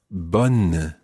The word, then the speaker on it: bonne: good, and that is bonne. Bonne. And that's spelled B-O-N-N-E, as opposed to bon, which is spelled B-O-N. Listen to the difference between these two words. Bon, bonne. Bon, bonne.